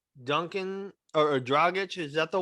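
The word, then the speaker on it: Dragić: or Jimmy at the 3, and then Tyler at the 2, and then Dragic is at that point, and Duncan Robinson is coming off the bench.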